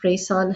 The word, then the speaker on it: Reisaan: So, where it can be found, my website is Reisaan Health. Ray, it rhymes with sunrise, sun rays, but it's spelled REI, Reisaan, SAAN.